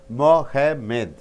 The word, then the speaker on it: Mohammed: When noun is there, you have to stress the first syllable. My name is Mohammed. Mo, that should be stressed. Mo, ha, less stressed. Med, still less stressed, right?